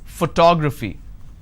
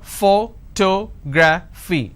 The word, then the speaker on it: photography: how do I pronounce photography and how many syllables do I have here photography four syllables but in this case I stress on the second syllable that is what word